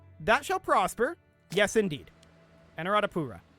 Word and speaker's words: Anuradhapura: How to pronounce Anuradhapura. Okay, I found a YouTube video. Let's see what we've got. Anuradhapura. Anuradhapura.